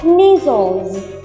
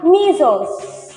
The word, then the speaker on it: measles: vận này chúng ta sẽ đọc như sau measles nhớ cho cô Cô nói là mles mles